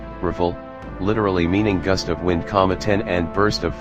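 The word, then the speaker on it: Rafale: number for the - ultra full French pronunciation riffle literally meaning gust of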